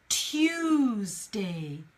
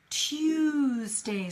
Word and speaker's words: Tuesday: we gonna pronounce it the first one is Tuesday Tuesday so see how you your mouth is going it's Tuesday to 2 so imagine the sound is Q choose Dave choose day yeah so you go